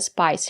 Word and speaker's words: spice: It's called a spice rack. It comes from the word spice. We have the letter I and the silent E. We pronounce the letter I as the long I like in hike and like spice.